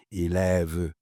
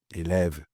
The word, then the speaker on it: élève: Por ejemplo, una simple palabra como elev, elev, el ev. Eso tiene tres maneras de decir una e, pero al español le cuesta eso.